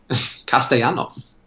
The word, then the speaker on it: Castellanos: But whenever I see two L's, I'm going with a Y. I took Spanish class. So did I. Castellanos.